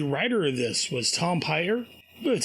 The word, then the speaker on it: Peyer: The writer of this was Tom Peyer. That's how you pronounce it. Peyer.